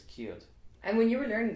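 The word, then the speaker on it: céad: How would you say? Kate. In Munster, it's keeled.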